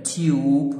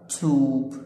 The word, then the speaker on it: tube: في كلمات زي blue هتلاحظ ان الـ U تنطق U، glue، true، flute، june، tube. هنا الـ U ممكن تنطقها يو او او، يبقى تيوب او توب، الاثنين صح.